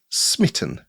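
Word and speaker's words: smi18n: i8n for internationalization so I have called my project SMI i8n which is a bit of a mouthful but it's intended to be pronounced smitten because it's for the love game engine oh I get it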